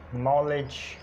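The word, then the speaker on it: knowledge: Knife, इसी तरह knock, नॉलेज, इसी तरह नाइट और ये नीट, नॉट। ये एग्जांपल्स हैं। यानी एन से पहले के साइलेंट होता है।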